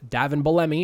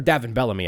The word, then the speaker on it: Davin Bellamy: going to be minus Davin Bellamy, who was awesome for the Breakers last year, or Davin Bellamy, I guess I should say. That was wrong pronunciation there.